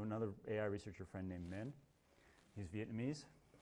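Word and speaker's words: Minh: AI researcher friend named Min. He's Vietnamese. His first name is Min. It's spelled with an H-N.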